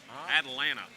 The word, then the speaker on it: Atlanta: a Southern accent is you don't pronounce te's that that big town south of us that has three T's in it they're all silence Atlanta Atlanta yeah excuse me all